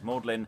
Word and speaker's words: Magdalene: reading uh Pharisees uh Magdalene but we'll probably be pronouncing it as mlin and all the disciples